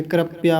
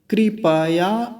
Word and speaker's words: कृपया: हैं, कृपया ऐसे करके, कृपया वगैरह कुछ भी चलता रहता है, गलत उच्चारण। तो कृपया नहीं है, कृपया। कृपया, देखिए प पूरा है, आधा नहीं बोलना।